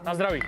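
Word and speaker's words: na zdraví: Nazdraví.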